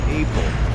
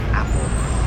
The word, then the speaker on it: apple: It's not able. It's apple. Apple. The British would say apple. Apple. Open a apple. You could even say apple. Apple. But able? Never.